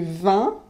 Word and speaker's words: vin: mais si vous dites il y à du vin alors là c'est pas tout à fait pareil et on va vous regarder comme si vous étiez un peu bizarre un peu illuminée comme on dit un